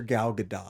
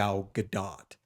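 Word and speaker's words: Gadot: is a good actress who calls her Gad do that's how it's pronounced I looked it up I looked it up look I know cuz Ally also put on Instagram and go that's why I looked up crazy that he doesn't pronounce the T but also I've never heard a single soul pronounce it g gdat well if you're such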